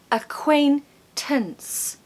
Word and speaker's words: acquaintance: it easy for you the first syllable is awah uh uh so a quain quain quain a quain acquaintance tuns tuns has got awah inside if you didn't know there's a uh sound in there somewhere so that's acquaintance a